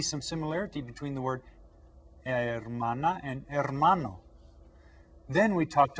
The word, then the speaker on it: hermana: Es la hermana. Repitan todos. La hermana. That's right. Remember that the H is silent. Hermana.